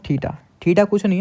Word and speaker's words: theta: Pronunciation क्या होता है इसका, थीटा, THETA, थीटा।